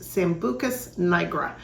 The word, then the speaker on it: Sambucus nigra: And the European version name, I believe, is pronounced Sambucus nigra.